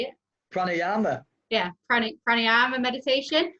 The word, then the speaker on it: pranayama: happens a Craig how do you say it pranayama yeah chronic running and meditation and just for